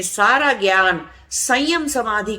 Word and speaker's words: संयम: अब वो संयम लिखने में वो जो अंग की बिंदी है ऊपर, उसको म से लिख देते हैं तो लोग उसको प्रोनाउंस भी कर देते हैं, संयमा बोलने की जगह संयमा बोल देते हैं, तो वो गलत प्रोनाउंसिएशन है।